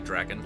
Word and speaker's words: Drakan: Well, tonight I am going to play a game from 1999 called Drakan. That's how I pronounce it. It's probably Draken, like dragon.